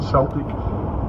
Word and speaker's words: Celtic: Examples are ancient Mexican, Mayan, Inca, Aztec, Sumerian, Babylonian, Assyrian, Egyptian, Celtic, or Celtic as some pronounce it, Aryan, etc.